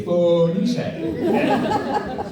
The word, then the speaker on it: Phoenician: You haven't heard the word Phoenician, I'll sound it out for you phonetically. Phoenician.